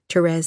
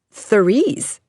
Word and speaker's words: Therese: "Please don't ever call me Therese," Therese said, pronouncing the th. "How do you like it pronounced?" "Therese?" "Yes, the way you do," she answered. Carol pronounced her name the French way, Therese.